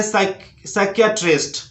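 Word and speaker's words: psychiatrist: उसके बाद है साइकियाट्रिस्ट, साइकियाट्रिस्ट।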